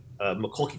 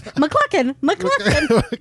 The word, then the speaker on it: Macaulay: That's how my mom says, McClucken. Am I saying it wrong? It was on the set of the movie Party Monsters, and Macaulay Culkin. Just keep saying Macaulay.